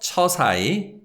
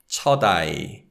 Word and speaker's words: 첫아이: So it's not 처사이, it's 첫아이, 첫아이.